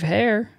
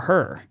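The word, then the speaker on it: Herr: why but uh steve steve hare or her so h-e-r-r is the last name i'm gonna say hair i've heard it pronounced both ways i like the word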